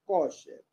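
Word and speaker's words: kosher: que hasta el día de hoy se llama se escribe K o s h e r coche que es una comida que es a base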